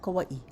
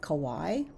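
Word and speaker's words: Kauaʻi: Is it Kauai or Kauai? His response was, both are correct. If you say Kauai, then it means an abundance. If you say Kauai, it means to wear around the neck.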